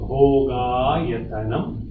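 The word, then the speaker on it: भोगायतनम्: So capital O will be O, Bho, and capital A is A, so Bhogayatanam.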